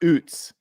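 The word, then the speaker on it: Ouzts: There's there's no there's no additional like syllables. It's just oots.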